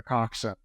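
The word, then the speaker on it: coxswain: because there are no cxn stands for the cockin and that's if you spell it out the word is spelled CX s w a i n and it's the little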